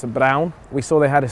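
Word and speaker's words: Braun: we'll keep you posted Bron I think I think they pronounce it brown here I heard I heard the the German one pronounce it brown we saw they had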